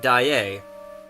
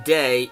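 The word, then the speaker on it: Daaé: learn his name, and they pronounce it Christine Daae. In the Robert Englund version, which is closer to the Gaston Leroux novel, they call her Christine Day, and you find out his name is Eric.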